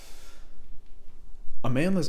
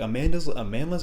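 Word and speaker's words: Amandla: Amanda's Interlude, I think that's how you say it. It's like Amanda with an L.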